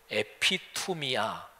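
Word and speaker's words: ἐπιθυμία: 번역될 수 있는 당 한데 이게 헬라 그로 에피 투 미 야 이렇게 발음합니다 매우 단어가 무슨 뜻이냐면 요 아주 중요한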